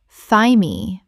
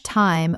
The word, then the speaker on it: thyme: Thigh me or time. Correct pronunciation. Thyme. The th makes a t sound and the e is silent. It rhymes with time. Example. She scattered fresh thyme over the roasted vegetables